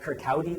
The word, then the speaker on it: Kirkcaldy: He was born in a town called Kirkcaldy. That's how that's pronounced in Scotland.